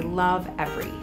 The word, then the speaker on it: Lovevery: we like to say love every as in like love every moment love every toe love every giggle love everything